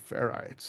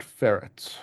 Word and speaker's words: ferrite: the wonderful world of ferites and not feret people sometimes say it wrong um so this is